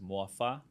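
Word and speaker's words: morfar: It's like spelled M O R F A R but it's pronounced mua.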